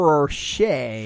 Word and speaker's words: Rocher: You know, it's like a mix between a Ferrero Rocher and a Reese's. Kind of like and stuck together. And a Reese's. I said Reese's. What's a Ferrero Rocher?